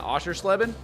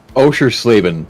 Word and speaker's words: Oschersleben: We're going to be at, help me say this, is it Oschersleben? I think that's how you say it. Oschersleben.